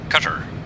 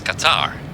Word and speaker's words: Qatar: Um I heard Americans say uh cutter. Said cutter was cu t. This kind of boat. A cutter. Uh no it's Qatar.